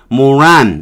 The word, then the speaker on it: moron: 우리가 하는 모르몬 교예 자 요거는 모란 이렇게 발음합니다 모란 꽃 필면 그